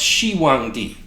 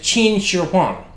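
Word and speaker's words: 秦始皇: I heard the name of China's first emperor pronounced Shi Wang D first of all this is wrong the Chinese pronounced the name of their first emperor as nearly as I can get anyway as chin Shang and second even if the first pronunciation was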